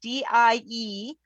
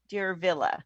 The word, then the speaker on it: Diervilla: Yeah, trying to pronounce Diervilla, like Cruella.